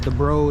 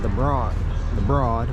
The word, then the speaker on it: the Broad: And then there's the Broad over there, which seems like it should be pronounced as the Broad, but it's the Broad.